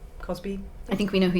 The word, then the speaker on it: Cosby: I say his name wrong sometimes, Crosby or Cosby, but Bill Cosby.